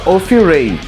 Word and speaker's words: Ophirae: Bom, na língua inglesa seria offray e tá aqui.